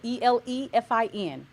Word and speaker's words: Elefin: So ELEFIN, Elefin, basically financial. I'm so glad she said to spell that out for everybody, for the people in the back.